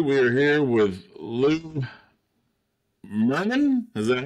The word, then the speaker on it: Murnane: We are here with Lou Murnane. Is that how you say it? Murnane. Murnane.